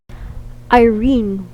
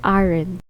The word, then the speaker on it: Irene: Irene was mispronounced as Aaron.